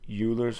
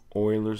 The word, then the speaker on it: Euler: shapes you can use Euler's formula Oilers formula I've heard a couple of different pronunciations now what it is